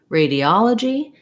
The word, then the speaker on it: radiology: an exception and then when we get to radiology the vowels don't change in this one except that this letter o does change radiology that's because in